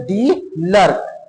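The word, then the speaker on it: de Klerk: तो कौन थे मिस्टर डी लर्क? अब इसको क्लर्क मत पढ़ दीजिएगा। के लिखा हुआ है तो के बेटा साइलेंट है। के क्या है? साइलेंट है।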